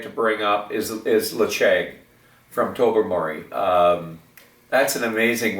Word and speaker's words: Ledaig: Something, if you can get your hand on a 10-year-old Lacheg, and it's spelled Ledaig, one of the best 10-year-olds out there, let alone being one of the top peated whiskeys in my palate.